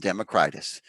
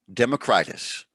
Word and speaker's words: Democritus: you're back okay 5 democritus by the way it's pronounced democritus or democritus and i'm slowly learning that almost everybody who knows what they're talking about